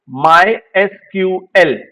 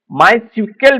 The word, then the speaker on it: MySQL: What is the official pronunciation of मायक्यूएल। मायस्कूल का आधिकारिक उच्चारण क्या है? माय एसक्यूएल this is the right answer माय एसक्यूएल माय सीक्यूएल भी आपको कहीं-कहीं मिलेगा लेकिन जब ऑप्शन है